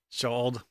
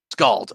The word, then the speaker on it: Shald: Shald. Scald. Okay. No, it's Oh. it's pronounced like scald, except with an SH instead of an SC.